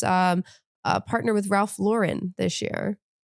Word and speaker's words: Lauren: Uh, it is Ralph Lauren. Not Ralph Lauren. You didn't know that. That man is from the Bronx. Why are we pronouncing his name Ralph Lauren? It doesn't need to be French to be good.